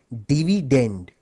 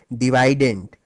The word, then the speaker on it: dividend: as dividend by the way the correct English pronunciation of this word is actually dividend but since divident ranks better with divisor thus the students prefer